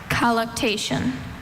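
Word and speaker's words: colluctation: Collation. Are there any alternate pronunciations?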